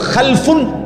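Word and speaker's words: خَلَفٌ: Generation দুই রকম হয় আরবিতে একটা হল খালফুন আরেকটা হল খালাফুন একই শব্দ শুধু উচ্চারণের মধ্যে একটু ভিন্নতা মাঝখানে একটা লাম আছে। এই লামটার মধ্যে যদি সাকিন হয় তাইলে হল খালফুন। আর যদি লামের মধ্যে জবর হয় তাহলে হল খালাফুন।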